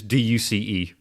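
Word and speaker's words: deuce: Juice as juice, which is D-U-C-E. Pronounce it as juice, D-E-U-C-E.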